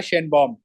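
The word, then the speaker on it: Sheinbaum: Claudia सी आता है सी आता है सी नॉट साइलेंट क्लाउडिया शन बम ठीक है य कौन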